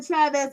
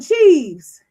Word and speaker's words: Cheeves: And something tells me that Jasmine Chavez and her sister are not very close. I sense a little bit of jealousy as well. Let me see. It's Lee. Oh, Jasmine Cheeves. It's pronounced leaves. Like leaves.